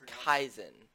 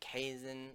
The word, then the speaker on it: Kaizen: It's Kaizen. I've heard people pronounce it Kaisen or whatever. I'm like, it looks like Ken to me. It's Kaizen. Kaizen. Kaizen. Like Kyast and then Zen as in Zen mode in a game or whatever.